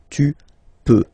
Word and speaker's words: peux: Then tu peux, same pronunciation and same spelling or writing, okay. P-E-U-X, okay, don't pronounce the final X. Tu peux, okay.